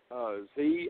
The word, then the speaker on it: Xi: How do you pronounce that, XI, anyway? Z.